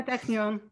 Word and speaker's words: Technion: She received her PhD from Technion, is that how you pronounce it in Israel? Yeah, Technion. Yeah, jointly with UC Santa Barbara.